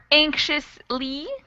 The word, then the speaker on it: anxious: anxiety or anxious or anxiously so the X actually changes pronunciation depending on how we're using the word so anxious and anxiously that X is sort of pronounced like an sh but when we say